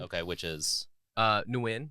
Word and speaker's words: Nguyen: Nguyen is the real way to say it. Oh, it's not. Was that an M sound I heard at the beginning? It's a ng sound with a little like up down thing, and then Okay, yeah.